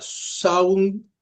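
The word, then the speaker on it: Samhain: Así que el nombre Samhin se pronuncia saun que significa fin del verano.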